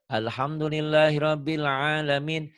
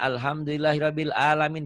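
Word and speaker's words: الحمد لله رب العالمين: tak orang banyak begini banyak orang baca part nya kan harusnya kan Alhamdulillahirobbil ngalamin dibacanya alhamdulillahirobbilalamin bersalah tuh segala puji bagi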